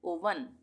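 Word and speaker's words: oven: अब यहां पर है ओ पी ई एन इसको हम पढ़ेंगे ओपन ओ वी ई एन ओवन इसको हम अवन भी बोल देते हैं ओ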